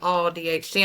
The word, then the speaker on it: AuDHD: I didn't know until recently that it was pronounced that it had a pronunciation ADHD. I just called it AUDHD. When I'd see it, AUDHD and then I heard somebody say all DHD, I was like there's a pronunciation.